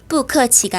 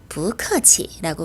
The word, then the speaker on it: 不客气: 뿌 뒤에 같은 제4성이 오면 앞에 있는 뿌는 제2성 부로 발음합니다. 그래서 뿌커치가 아니라 부커치라고 발음을 하는 거죠.